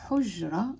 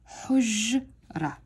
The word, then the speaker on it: حجرة: I'm blending 2 sounds together. Basically, I'm bringing the h and the j together, and I'm saying حج, حج, حج, حج. And then I'm going ra, ra. So over here, I'm making 2 sounds.